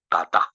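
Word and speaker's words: בטח: dalam bahasa Ibrani itu tulisannya ya bacanya Batak jadi percaya dalam Amsal 3 ayat 5 itu pakai kata ini batah bahasa Ibrani kalau diterjemahkan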